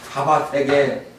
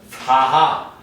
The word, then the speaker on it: 사바: 사바세계. 근데 여러분 얘기했습니다. 사바가 무슨 말이라고 그랬죠? 사바 사바세계라고 그러잖아요. 사바세계. 우리 한글로는 사바. 한자로는 사파. 한자로는 사파인데 우리나라에서는 이걸 사바라고 발음해서 사바. 이게 인도 말 원어로는 사하.